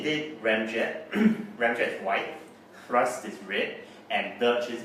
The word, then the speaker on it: Thrust: pronounce his name, because you have to pronounce it with the H. Okay. Thrust. Okay. Whereas most people would just call it Trust.